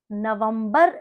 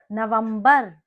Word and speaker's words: नवंबर: Before we dive in, let me tell you, November is called Navambar in Hindi. Navambar. Navambar. November, almost similar to its English pronunciation.